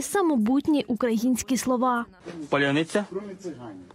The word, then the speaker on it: Паляниця: Я так розумію, що отниця, оце вони не можуть цього вимовити. От ці слова, що полуниця, паляниця, залізниця, криниця, ну, москалицю, криницю, там багато чого можна понапридумувати.